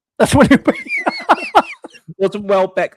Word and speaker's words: Welbeck: Or as my cousin calls him, Danny Wheelblick, because he can't fucking pronounce it properly. It's like fucking idiot. So I have to listen to my cousin say that wrong for the last 16 years.